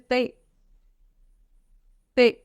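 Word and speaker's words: tante: T English में same है, but pronunciation of this in French is ते। ते, ते, तबला वाला ते।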